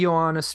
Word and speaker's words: Johannes: Do you pronounce it Johannes or Johannes Trithemius? I say Johannes because initially, like, that's what the J was. The J was like a different form of I.